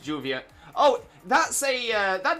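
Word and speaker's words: lluvia: was on mayorkian first I was taught it was like the Double L but then I've heard some people pronounce it as Juvia with a hard J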